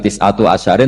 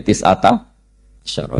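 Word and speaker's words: تسعة عشر: tisata Asaro utawi solongol tetap bacanya bukan tisatu asarin tapi tisata Asaro jadi kita tahu secara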